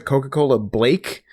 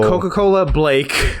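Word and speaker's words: Coca-Cola Blāk: ago, Coca-Cola Black, BLAQ, although I think the A had like a weird accent on it, so I always pronounce it Coca-Cola Blake.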